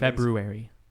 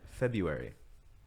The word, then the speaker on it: February: There's a couple different February. things. February. You don't pronounce the R.